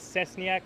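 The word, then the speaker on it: Szczesniak: His last name is Cesniak. That's spelled S, C as in zebra, C as in Charlie, C as in zebra again, E-S-N-I-A-K.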